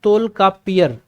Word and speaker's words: तोलकाप्पियर: हमेशा इसके लेखक पूछे जाते हैं, तो इसके लेखक कौन है, तोलकाप्पियर, तोलकाप्पियर। ठीक है, लिख लो, उच्चारण करो, तोलकाप्पियम के लेखक तोलकाप्पियर।